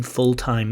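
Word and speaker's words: full-time: like taking pictures so this l in fulltime it's not always pronounced certainly in some in London for example fulltime fulltime that L isn't always pronounced but for time it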